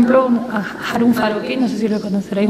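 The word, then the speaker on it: Farocki: H-A-R-U-M, y Farokhi, como suena con K, con CK. Farokhi.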